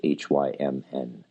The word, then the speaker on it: hymn: hymning, I keep saying, is H-Y-M-N. It's sometimes why I pronounce the N at the end, hymn, so you just know, because not everyone will